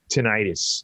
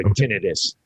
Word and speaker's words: tinnitus: let's move on to tinnitus or tinnitus which which is a correct pronunciation both are correct actually okay so what's